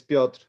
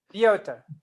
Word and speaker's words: Piotr: Okay, it's Piotr. It's like Polish version of Peter, so I'm good with Peter. Piotr. All right. Piotr.